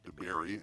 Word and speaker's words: Dabiere: Yes, Pat Dabiere, and he did point out a few days ago that I spelled his name wrong in our promos.